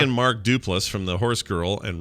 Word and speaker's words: Duplass: but he is correct it is des plots lost do plus with the emphasis on the last syllable yeah this is de